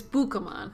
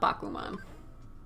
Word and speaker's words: Bukamon: So we're gonna get, oh, it's Bukamon, not Bakuman. I knew I wasn't saying it right, but we'll get Bukamon.